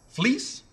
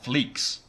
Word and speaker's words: Fleecs: think I'm saying fle fleece yeah like uh like like wool fleece like wool I've been calling it fleeks a lot of people